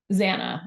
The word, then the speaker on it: Xana: Xana, I believe.